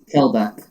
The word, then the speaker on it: Kelbeck: Okay, so how do you say that? Keelbeck? Kelbeck. Kelbeck, yeah. Kelbeck. Kelbeck.